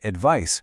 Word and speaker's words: advice: The noun advice rhymes with nice, while the verb advise rhymes with size.